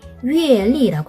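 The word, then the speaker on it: 月历: 중국어 발음, 한어 병음으로는 YUE 한번 여러분도 같이 한번 입력해보세요. 그리고 LI, 위엘리라고 합니다.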